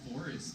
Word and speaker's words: FXRRVST: and also a band called Forest in Toronto. They spell it FXRRVST.